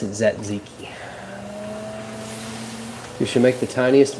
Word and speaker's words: tzatziki: I pronounce it Zatziki.